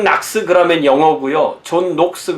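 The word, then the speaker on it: John Knox: 없는게 장락 쓰잖아요 거냐 그런데 이게 그 본토 발음으로 하면 이게 존 녹스 라고 쓰는 게 더 맞는 것 같습니다 자 아 들어가는 이야기의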